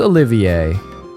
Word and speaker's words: Olivier: Okay, okay, so it is Olivier.